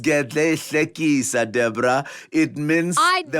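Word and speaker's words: Gedleyihlekisa: Leader, Commander-in-Chief of the Armed Forces, President Jacob Gedley. Oh, market. Jacob Zuma. It's pronounced Gedle Hlekisa, Deborah.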